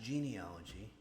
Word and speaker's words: genealogy: it's pronounced genealogy not genealogy you're not rubbing a a lamp and getting a genie it's genealogy as in genetics it's not genetics so